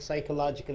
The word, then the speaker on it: psychological: improvise still okay okay physiological is physical oriented psychological you have to say here be is silent able to understand phys phological means body related psychological in the sense the heart related mind related your P silent right okay you gentlemen